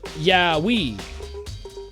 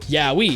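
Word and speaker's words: yaoi: But that's because it's split. like the syllables split. Yah we Yah we Y A O I Yah wei not owi.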